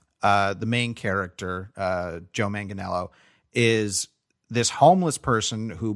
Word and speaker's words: Manganiello: him getting interviewed recently he says joe manganiello manganello yes i watched that too